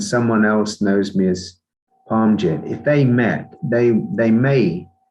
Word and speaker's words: Parmjit: My name, and this is my name for this physical body, is actually pronounced Parmjit. It's a Punjabi name.